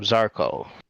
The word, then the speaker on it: Zarko: I am Zarko, pronounced like charcoal, with a czar.